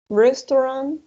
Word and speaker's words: restaurant: translation right train station restaurant right remember the combination of au is going to sound like oh restaurant sports center market police